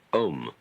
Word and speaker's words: om: Chief of these is the syllable om or al called the pranova or the sound of god because it involves the whole range of the voice from the back of the throat to the lips.